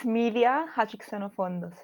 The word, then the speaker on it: Midia Hadjixenofontos: It's Midia Hadjixenofontos. That's it. That's right. That's right. That's the right way to do it.